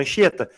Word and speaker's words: Anchieta: Tem outros dígrafos mais fáceis, como na palavra Anchieta. Na palavra Anchieta, o CH é um dígrafo. Porque você não vai ler Anchieta. Né, Robson? O H não é pronunciado, caramba. Então ele tem som de X, anch.